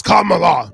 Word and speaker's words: Kamala: the and said you're you're pronouncing the vp's name her name is Kamala Kamala say the bitch's name is Kamala okay